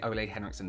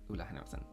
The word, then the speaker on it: Ole Henriksen: I always want to say Ole Henriksen, but I did a job of them, and it's pronounced Oola. Ola. Ola Henriksen.